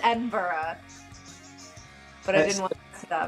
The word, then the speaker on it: Edinburgh: I do get to come all the way up to Edinburgh.